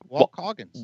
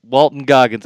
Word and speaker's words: Walton Goggins: Walt Coggins. Walt. Say his name again. Isn't it Walt Coggins or something? Walton Goggins. Oh boy, I was close.